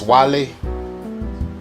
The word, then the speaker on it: Guale: with this little Wikipedia article the quietly right pronounce Wally like shout out to Wale shout out to